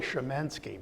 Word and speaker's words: Szymanski: Anybody out there that's Polish, my name is really Szymanski, but I gave up about 40 years ago trying to say it that way.